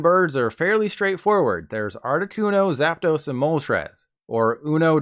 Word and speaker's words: Articuno: The official pronunciation is Articuno, so there's no surprises there.